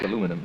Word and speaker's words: aluminum: That's aluminum, yes.